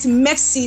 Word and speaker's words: MEXC: Mex Exchange. It's spelled MEXC. Some call it MEXC, some call it Mex.